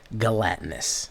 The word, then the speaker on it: gelatinous: I believe it's a soft G. Gelatinous. Okay? So don't hit a hard G on that, guys. You would be wrong.